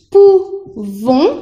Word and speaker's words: pouvons: Y la pronunciación es pouvons, con sonido nasal, y aquí pouvez.